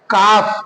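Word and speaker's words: calf: में L silent है काफ काफ मीस बछड़ा यह भी एल साइलेंट है ठीक है अब आइए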